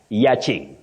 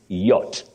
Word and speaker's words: yacht: that Leisure boat yes don't say y many people say y Ying that is not in English you say yach yacht and Ying then